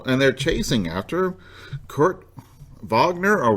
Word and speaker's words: Wagner: So, and they're chasing after Kurt Wagner or Wagner. I think you may pronounce it however you choose. Because he is German, I would actually say Wagner, Kurt Wagner.